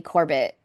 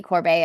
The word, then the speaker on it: Corbet: This whole time, I thought it was Brady Corbett. And then I heard someone say Brady Corbet, and I was like, what?